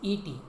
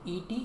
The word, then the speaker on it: et: And is et. Et is a. Et is pronounced like a.